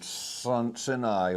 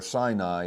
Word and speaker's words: Sinai: Sin as in sini or sinai as we pronounce it.